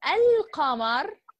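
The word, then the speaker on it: القمر: And Al-Qamar, which is the moon, okay, has another different from lamb, which has sukoon on it, okay, and we pronounce it.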